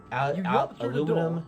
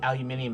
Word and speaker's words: aluminium: like it's like huge aluminium in Kanata mininum which hasn't been built literally aluminium has an extra I in there but and it's pronounced like it has the extra I in there but colour doesn't really